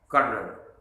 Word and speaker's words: colonel: Brigadier से ranking में नीचे होता है आर्मी में, कर्नल, COLONEL। वाह वाह वाह, अंग्रेज ने भी खूब फंसाया है। ये कहाँ से स्पेलिंग बना दी भाई, जो कि हमारे गले पड़ गई है।